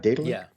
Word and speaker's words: Daedalic: Separately, right now on Daedalic Games, did I pronounce that right? Daedalic?